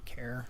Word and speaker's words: char: point numbers um okay care or some i've heard this pronounced char before but care uh individual characters string